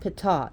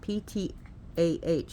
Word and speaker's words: Ptah: Some people have trouble differentiating the god Khonsu and the god Ptah. Yes, it's pronounced Ptah, P-T-A-H. It's not Ta, but Ptah.